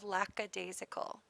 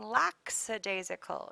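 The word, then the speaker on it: lackadaisical: perfectly organized and color coordinated next we have lacad daal uh you will hear people mispronounce this upon occasion when they say laxidasical it is lack aicle and I'm pretty sure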